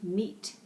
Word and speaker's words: meat: from its teeth okay we have a vowel diagraph the EA is pronounced a double e meat and then teeth a